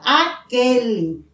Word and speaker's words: aquele: équipe veja a diferença aquele équipe u não é pronunciado certo porque a palavra